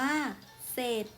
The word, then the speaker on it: เสร็จ: เช่น สร้อย อ่าน ว่า สร้อย เสร็จ อ่าน ว่า เศษ สร้าง อ่าน ว่า สร้าง ข้อ สอบ ไอ เรา มา ดู อักษร ควบ ศ.